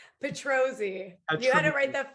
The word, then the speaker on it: Petrozzi: pronouncing your name correctly is it petrozzi or petrozzi petrosi you had to write